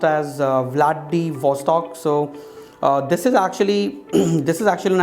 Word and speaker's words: Vladivostok: It is pronounced as Vladivostok.